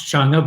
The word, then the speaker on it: Chang'e: I had no idea who Chang'e was and couldn't pronounce Chang'e, but now, Peilin, am I getting it right? I think I perfect. Perfect.